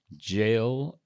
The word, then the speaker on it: Gillamuffy: That's Jilamufi. Or is it Gillamuffy? Categorization of dear listeners, if you wouldn't mind. I don't mind at all. For the avoidance of doubt, I believe the pronunciation to be Gillamuffy.